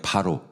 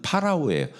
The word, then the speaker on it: 파라오: 바로. 성경에서는 바로인데 사실은 발음은 파라오예요.